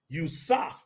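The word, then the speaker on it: Yosef: of Yahweh appeared to who USAF that's Joseph that's how you say his name USAF in a what in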